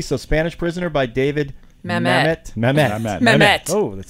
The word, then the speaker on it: Mamet: Mamet. Is that how you pronounce that?